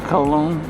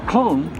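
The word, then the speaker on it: Köln: main station here in colog Germany and it's pronounced clone not col uh here anyway uh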